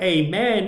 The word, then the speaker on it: amen: a woman is isha the word amen or amen in the christian pronunciation has nothing to do